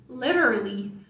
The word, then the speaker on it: literally: Às vezes só prolongo o som sem pronunciar a vogal seguinte. Literally. Fica bem próximo.